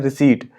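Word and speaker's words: receipt: अभी यहाँ पे प्रोनाउंसिएशन की अगर बात कर लेते हैं तो जो यहाँ पे रिसीप्ट लिखा है ना, तो इसको अगर प्रोनाउंस करेंगे तो होता है रिसीट।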